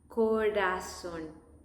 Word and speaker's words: corazón: Corazón. There is no double R in this case, in this exception, just one R, and it's soft.